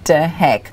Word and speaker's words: De Hek: well so today's show we have mr danny de heck welcome danny well done you're pronouncing my name beautifully by the way oh